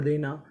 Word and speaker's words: the: Described का मतलब होता है बताना या विवरण देना। द, THE द, आप इसे चाहें तो द पढ़ सकते हैं, चाहें तो दी पढ़ सकते हैं। दोनों ही उच्चारण हमारे सही माने जाते हैं।